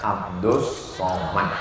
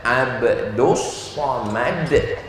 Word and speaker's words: Abdul Somad: Namanya Abdus Somad. Tulisannya Abdul Somad. Tapi cara bacanya Abdus Somad.